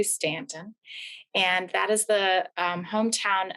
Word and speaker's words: Staunton: multi-purpose room here in stanton virginia that's spelled staunton but it's actually stanton and that is the